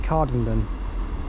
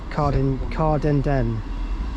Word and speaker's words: Cowdenbeath: I realised I pronounced it Cowdenbeath, but it's Cowdenbeath.